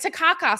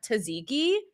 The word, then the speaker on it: tzatziki: He's like, Takaka sauce. And she's like, tzatziki. And I'm like, this man doesn't know how to pronounce tzatziki.